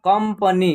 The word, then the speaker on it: कंपनी: संगम अंदर रंगीन कंपनी देखिए क पर इस बिंदी का उच्चारण आधा म होगा कंपनी क्या होगा कंपनी जंगल बंदर संसार पतंग